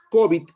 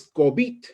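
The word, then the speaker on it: COVID: nombre de esta enfermedad y nosotros hemos terminado pronunciando de esa manera y decimos cobit 19 como una palabra grave la pronunciación la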